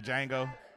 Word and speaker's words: Django: Aegis I like the Django like the Django DJ NGO the D is silent yes I know see